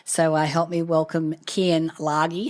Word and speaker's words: Keyen Lage: to the conversation so I help me welcome Ken lagi how are you darling I'm doing fantastic and the pronunciation was perfect oh ex so very few